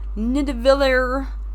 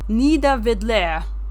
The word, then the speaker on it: Nidavellir: I know it looks like it's Nidavellir, I think is how you pronounce that, but according to the internet, if you want to say it properly, it's Nidavellir.